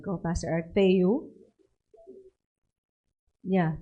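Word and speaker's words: Θεοῦ: Tama ba yung pronunciation ko, Pastor Art? Theou? Yeah, Theou.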